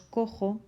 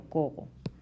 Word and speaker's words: cojo: Pues simplemente porque si lo escribimos con G no pronunciamos cojo sino cogo, con lo cual lo